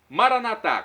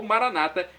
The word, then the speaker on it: Maranata: aramaico dialeto de Jesus Maranata com a tônica na última sílaba como dizemos nós católicos ou Maranata com a tônica na penúltima sílaba como dizem nossos irmãos separados os evangélicos ou protestantes não importa pronúncia o